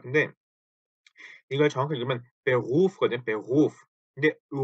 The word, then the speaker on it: Beruf: 자, 요거 가지고 발음을 되게 좀 힘들어하세요. 왜냐하면 요 독일어의 R 발음이 때문인데요. 이거를 어 일단 원형은 Beruf죠. Beruf 요렇게 써 놓고 나서 이거를 읽어 보세요. 그럼 Beruf 그 우리말로 치면 Beruf 정도 되겠죠. 요 루 때문에 많이들 어려워하시는 거예요.